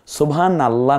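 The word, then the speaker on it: سبحان الله: ইলাহা ইল্লাল্লাহ এরপরে সুবহানাল্লাহ সুবহানাল্লাহ না মানে সুবা সুবানা সুব বলেন সুবহানাল্লাহ তাহলে এই নুনের উপর যে জবর আছে এই কারণে আল্লাহটাকে আমরা মোটা করে পড়েছি একটু দেখুন এরো চিহ্ন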